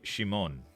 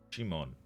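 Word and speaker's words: Szymon: um 41 year old I looked up how to say his name it's it's basically sheep Shimon Shimon my medicine we'll believe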